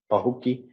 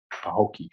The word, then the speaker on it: Pahokee: Pahokee.